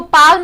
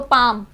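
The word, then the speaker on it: palm: पाल्म, पाम, इसको पाम बोलेंगे, इसको पाल्म नहीं बोलेंगे, वो प्रोनाउंस गलत होता है क्योंकि एम से पहले जो एल वर्ड लिखा है वो साइलेंट हमेशा होगा, तो पाम।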